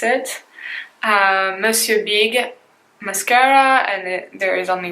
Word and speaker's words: Monsieur Big: This is how we pronounce it. Monsieur Big mascara, and there is only one shade as far as I know, so that's number 1.